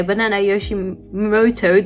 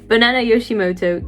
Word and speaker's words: Banana Yoshimoto: Okay, the last book that I read was actually I just read it last night, was Kitchen by Banana Yoshimoto.